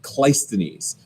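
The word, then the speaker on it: Cleisthenes: 12 now reforms of clystones is how you say that guy's name kleisthenes okay kleistenis is going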